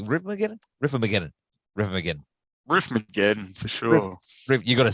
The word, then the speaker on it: Riffmageddon: Riffmageddon for sure.